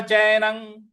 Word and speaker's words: चैनं: अगला पद है न चैनं, न चैनं। च पर ऐ की मात्रा है और न पर जो अनुस्वार है उसका उच्चारण हमें अंग ले आना है, अंग का।